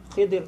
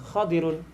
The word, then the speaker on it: خضر: Jadi yang selalu kita dengar itu Khidir, tapi terkadang juga ulama membacanya dengan Khadirun.